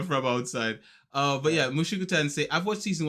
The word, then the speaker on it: Mushoku Tensei: Mushoku Tensei. I think that's how it's pronounced. Please correct me if I'm wrong in my pronunciation no, of it's good. Mushoku Tensei. Mushoku Tensei.